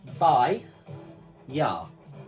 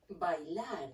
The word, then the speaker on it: bailar: So the first one here, if you remember, was bailar, but it's spelt with an L. It's by-ya. By-ya. Bailar.